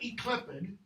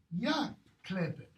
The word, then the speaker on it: yclept: It's not eclipid, it's pronounced ya-clipid. Okay? What's the other one I have? Because I can't, no, it's that one. Yclept.